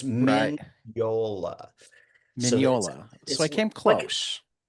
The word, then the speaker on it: Mignola: Uh, and if you just say it's a silent G, then you get minola, which is terrible. It's Miniola.